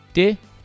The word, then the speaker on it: Tae: Te, que se escreve tai, né?